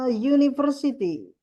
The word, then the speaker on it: university: Jadi, jawabannya di sini, karena university itu ketika dibaca, pakainya huruf Y.